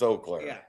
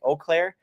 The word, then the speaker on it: Eau Claire: At least in Wisconsin, it's Eau Claire. Yeah. Around here, you get people who'll call it both ways. You could tell those who aren't from the area, they say Eau Claire, and then those who